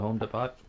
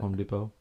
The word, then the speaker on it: Depot: I guess I have to go check out Home Depot. Home Depot. Why have the T there? If you're not gonna use it, shouldn't be there. What are you talking about? Home Depot.